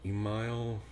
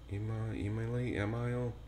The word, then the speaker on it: Emile: it's French so e-m-i-l-e-h-e-n-r-y so Emile email and I French it's Henry you don't pronounce the h for whatever